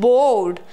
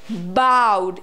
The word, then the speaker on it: bowed: Why not bowed? First of all, the correct pronunciation is bowed. It's bowed, but not bowed. Is it bow and arrow? No, it's bowed.